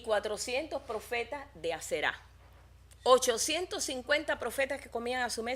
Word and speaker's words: Aserá: Y también a la diosa Aserá, porque aquí vi que con un acento en la diosa Aserá, que es la diosa de la fertilidad.